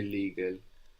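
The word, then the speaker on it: legale: so the the E the e in Italian is going to be more like elepant e so how would you say legal legal legal so think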